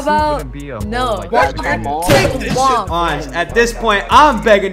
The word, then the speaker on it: Ange: A-N-G-E? What is that? It's pronounced Ange.